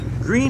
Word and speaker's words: Greene: Greene has been designated a historic town by the state of Texas. The name of the town is pronounced like the color green.